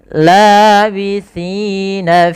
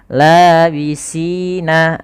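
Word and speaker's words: لَابِثِينَ: Labithina fiha ahqaba. Lafal labithina. Hati-hati dalam pelafalan si, jangan dibaca labisina. Ini teman-teman, hati-hati jangan membaca labisina. Nanti dirubah jadinya, itu berubah menjadi huruf sin.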